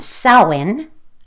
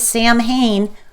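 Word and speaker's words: Samhain: around May 1st, Llamus around August 2nd, and Sin around 117. I know most people think it's Sam Hayne, but it's not. It's pronounced sin.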